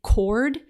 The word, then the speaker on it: chord: the rules of French the CH in chord makes a hard sound based on the patterns of the Greek language and tortilla has a